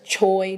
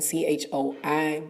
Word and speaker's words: Choi: You got June K, Danny Magic, Glenn Choi, and that's Choi to us American, CHOI, but it's Choi, the correct pronunciation.